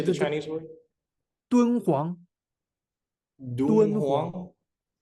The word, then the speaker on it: Dunhuang: Dunhuang, Dunhuang, Dunhuang? Dunhuang. Dunhuang?